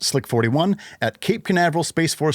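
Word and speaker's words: SLC-41: Lucy was then transported from its clean room to ULA Space Launch Complex 41, usually pronounced Slick 41, at Cape Canaveral Space Force Station and hoisted into place atop the Atlas V in ULA's vertical integration facility.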